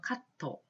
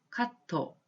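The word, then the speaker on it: カット: 가지 단어가 나오는데요 예 커트 라고 하던 일본어로 카토 카토 라고 하구요 그 다음에 파마 같이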